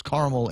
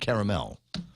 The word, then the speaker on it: caramel: salt caramel ice cream there are two accepted pronunciations caramel and caramel and I don't know